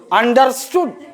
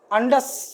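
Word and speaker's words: understood: अब अपन लोग इसका उच्चारण करेंगे, अपन देसी लोग, अंडरस्टूड नहीं, आर साइलेंट है भैया, अंडस, ये शब्द का इस्तेमाल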